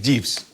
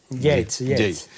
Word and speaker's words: Yeats: el libro, que es Jeeves. Yeats. Bueno, tú lo pronuncias bien, yo lo pronuncio a mi manera, tú que sabes.